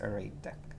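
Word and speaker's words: ArrayDeque: we can create an array DQ an array deck properly pronounced array deck and uh let's see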